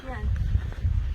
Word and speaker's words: chien: Chien. It's spelled like Chien. C-H-I-E-N, but they don't pronounce the N, right?